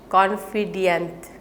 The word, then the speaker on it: confidant: So there is also pronunciation by confident. So confident, which is C-O-N-F-I-D-A-N-T, that means a trusted advisor to whom secrets are confided.